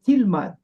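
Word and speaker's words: תלמד: On met le tav sans le yod et on prononce tilmad.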